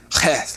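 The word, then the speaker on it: ח: But the H with a dot means we're looking at a hard H sound, and it has a sound like the modern KH, or in the Loch Ness Monster, that k at the end. That's how you pronounce the Hebrew heth.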